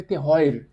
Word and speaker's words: terroir: Terroar é um um se escreve terroir.